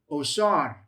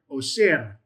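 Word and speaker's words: עֹשֶׁר: For you have the ayin, you have the defective holam, you have the shin, you have the tsere, and you have the resh, which is the word osher. Should be the shin, osher. Yes, it's a shin. So, osher.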